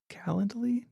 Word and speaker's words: Calendly: I use sometimes is called uh Kal calendly calendly I is how you say it but that's